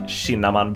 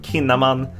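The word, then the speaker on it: Kinnaman: called sh and actually a lot of Swedish word that has the letter K followed by a vowel is actually pronounced sh so that would me it would make sense to pronounce his name shinaman but in this case he's pronounced kinaman don't ask me why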